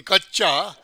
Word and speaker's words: कच्चा: Likewise, in kacha, the cha in the middle is basically, we're not fully saying it, therefore it is cut